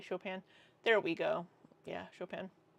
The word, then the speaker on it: Chopin: Where is the pronunciation key for your name? Chopin.